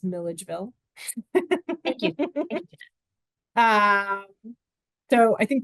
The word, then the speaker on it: Milledgeville: I think we're over time, although I will say, if anyone was wondering how to pronounce that town, it's Milledgeville.